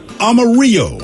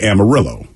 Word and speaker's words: Amarillo: That's yellow in Spanish, spelled with the L's. So in English, we always say Amarillo.